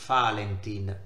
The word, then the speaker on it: Valentin: etimologia ossia dall'assonanza tra il nome del santo pronunciato valentine nei paesi di lingua tedesca e il termine tedesco